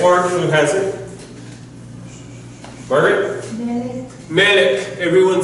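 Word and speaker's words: מלך: Whenever you see the double sigle, the two E's side by side, then it's going to be, then the first syllable gets the emphasis. So it's melech, not melech, but melech.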